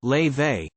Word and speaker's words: Laufey: mum the 24 year old whose name is pronounced lay they began writing songs while studying at the Berkeley